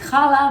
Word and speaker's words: Challah: Israeli bread that's called khala so in Israel we pronounce it khala but in English you spell it with the H so hala hala hala is a